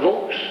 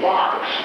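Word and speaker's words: Vaux: Most people say Vox V- AUX and the patrolman said, "Well, I'm from Conway up by Mount Vernon."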